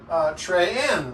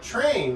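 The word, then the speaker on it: Thraen: Well, I pronounce our last name Trey-N, like 2 syllables. And other people in the family pronounce it like train, like a choo-choo train.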